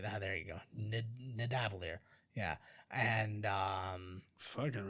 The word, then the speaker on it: Nidavellir: I can't even pronounce it. Midavalir. There you go. Nidavellir.